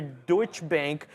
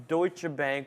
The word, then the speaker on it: Deutsche Bank: What I remember reading about it is the stock gained about 1.8% after Deutsche Bank, that's how you say it, hopefully, Deutsche Bank upgraded the stock to buy rating, citing revision to estimates following strong quarterly results.